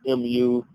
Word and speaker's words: Mu'adh: His name is Sa'd ibn Mu'adh. That's how I pronounce the last name, because it's Muadh. So Sa'd ibn Mu'adh.